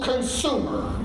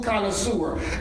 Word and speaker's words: connoisseur: if you know me my children mispronounce it it's a full consumer I'm a full connoisseur I love good food